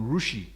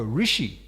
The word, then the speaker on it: Rishi: uh he he mentioned a modern rousi propa says what is that rushi rushi oh prop said oh Rishi they can be slightly differ differ of pronunciation and then Pro goes